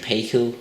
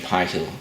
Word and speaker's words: Paykel: I know some of you guys in the States call it Fisher and Paykel, but over here it's pronounced Fisher and Paykel. I know, it's kind of weird, isn't it? But that's how it is for some reason.